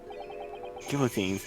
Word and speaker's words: guillotine: It is French. So, you know, the L's are just not pronounced in it's a French word because they pretend letters don't exist when they're still there.